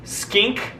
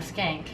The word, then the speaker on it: skink: that's less than everybody it's a Blue Tongue skink skink not a skank ass skank a boot